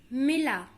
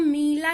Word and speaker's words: मिला: इससे और हम शब्द देखेंगे, जैसे हमने यहां देखा दिल, मिला, इसको हम मीला नहीं करते हैं, मिला।